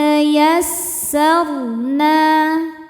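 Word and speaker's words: يسرنا: Ro sukun dibaca secara tafkhim karena sebelum ro sukun ada baris fathah. Cara bacanya ro dibaca tebal. Yassarna. Saat berhenti di na, hukumnya adalah mad tabi'i dhahiri. Sebab ada alif sebelumnya fathah. Cara bacanya dipanjangkan nunnya 2 harokat.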